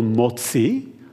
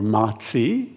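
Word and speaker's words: MOTS-c: we're particularly excited about which we call motzi or matzi depending how you want to pronounce it but mozi is a peptide that's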